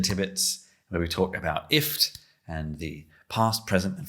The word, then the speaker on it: IFTTT: we say we say if it's a kind of like gift without the g um but we we don't get too upset when somebody pronounces it differently or says ifttt we've got three g's